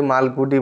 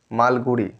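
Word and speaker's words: Malgudi: এল জি ইউ ডি আই অনেকেই ভুল করে মালগুড়ি বলবে এতে কিন্তু মালগুড়ি নয় মালগুড়ি উচ্চারণটা কিন্তু ঠিক রাখবে পরে আসছে দেখো দ্যা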